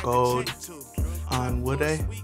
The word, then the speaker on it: Gold-Onwude: know how to say my last name rlin gold on wood yes you actually pronounced that perfectly thank you thank you I've